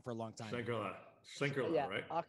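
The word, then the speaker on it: Schlenkerla: Can you pronounce that brewery? Because I've been saying it wrong for a long time. Schlenkele, yeah, right? Schlenkele, yeah. Schlenkele.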